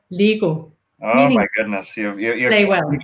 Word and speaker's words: Lego: all the other medicines we've been saying it wrong the whole time all of our lives in danish it's pronounced lego oh my goodness they